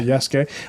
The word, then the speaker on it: Yasuke: it would be really interesting to hear about Yasuke. Is that how I pronounce it? Yeah. Yasuke.